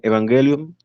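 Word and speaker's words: εὐαγγέλιον: supiéramos, prácticamente es eso, viene de una palabra griega que se pronuncia evangelium y que se traduce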